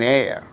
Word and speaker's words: heir: For instance words beginning with a silent H in the words hour, an honor, an honest man, an heir, an honorable man.